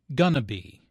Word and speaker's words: gonna: Notice how this is pronounced like gonna be. Instead of 4 syllables, going to be, there are 3 syllables, gonna be.